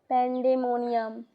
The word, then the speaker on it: pandemonium: Pand dominium Pand dominium pandom what is the pronunciation of it pandom Pand pandemonium sorry for this the description of Hampton code